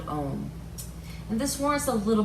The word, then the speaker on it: Om: the full benefit from it ohm often spelled om is actually a um is a trinity of three sounds sewn together into one and it's known as